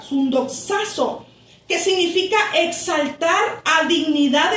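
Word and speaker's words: συνδοξάζω: La palabra glorificados, hermanos, de este pasaje es sundoxazo, así se escribe, sundoxazo con X, A y al final Z, sundoxazo, que significa exaltar a dignidad en compañía con.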